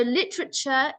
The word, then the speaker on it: literature: So literature is said like this. I've made it easy so you can pronounce it. So there's a silent A right here. So literature.